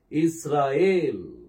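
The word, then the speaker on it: ישראל: இஸ்ராயேல். இஸ்ராயேல். பாருங்க, எல்லாமே அதிகமா தான் உச்சரிக்கிறேன்.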